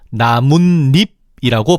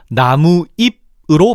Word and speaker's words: 나뭇잎: 그래서 사이소리 즉 니은니은을 첨가시켜서 나무잎이 아니라 나뭇잎이라고 발음하는 거지. 그런데 어떤 사람은 나무와 잎을 나뭇잎이 아니라 나무잎으로 발음할 수도 있잖아. 그래서 그런 사람들 모두 다 나뭇잎으로 발음할 수 있도록 즉 사이소리가 첨가되었음을 표시하기 위해서 시옷을 앞은 나무에 비어 있는 종성자리에 표시하는 거야. 그런데 또 재밌는 건 이게